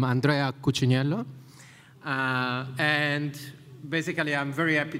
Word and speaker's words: Andrea Cucciniello: As Grant, like, pronounced it perfectly, I'm Andrea Cucciniello.